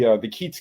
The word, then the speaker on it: Kiez: Whenever you have the IE or the EI combination, pronounce the second vowel. So that's how you do it. And yes, the Kiez kicker just means the neighborhood kicker.